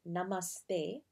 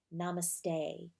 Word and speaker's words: namaste: need for namaste and yes it's namaste with a hard th and an emphasis on the second syllable not namaste there you go oh